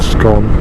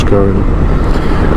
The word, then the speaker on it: Scone: Just coming into Scone, or Scone, oh, it's not Scone, it's actually pronounced Scone.